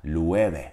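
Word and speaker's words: Loewe: Alman markası olduğunu düşünmüştüm Çünkü Almanca'da bu kelime lü ve diye telaffuz edilir ve Almanca Aslan demektir Yalnız bu İspanyol markası ve Normalde İspanyolca telaffuz edilmesi gerektiği için Love ve olması gerekir Ama bu markanın telaffuzu İspanyolcanın kurallarına göre verilmemiş oooo sesini almış ve Love ve olmuş arkadaşlar lu eve Evet arkadaşlar gelelim bir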